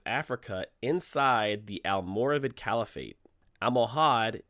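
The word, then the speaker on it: Almohad: inside the al-muravid caliphate amohad is the spanish sounding of al-muhawidin which means listen you try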